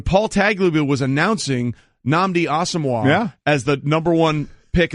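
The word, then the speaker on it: Nnamdi Asomugha: And it's Namdi Asomugha. He pronounced it Asmuga Namdi. So not only did he butcher both words, he transposed them.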